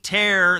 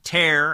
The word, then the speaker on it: Taer: Jenny Taer, the immigration reporter for the Daily Wire, find her on X at Jenny S. Taer, and that's T-A-E-R. Not a traditional pronunciation, but not traditional spelling.